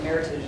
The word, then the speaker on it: Meritage: oh well uh I I say Meritage but Meritage is actually the proper pronunciation it is a madeup word it was a word